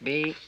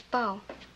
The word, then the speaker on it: bough: Look, here, see, B-O-U-G-H. What's that? That is the bough. That's the bough when you say bough of a tree. I thought you said it was bow. Look, they're both, well, they're not both, but one is both. See, B-O-W is both. That's bow and bow, but B-O-U-G-H is only bow. It can't be bow, too.